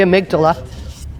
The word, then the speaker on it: amygdala: Well, I was just wondering if the amygdala, is that how you say it? Yeah, the amygdala.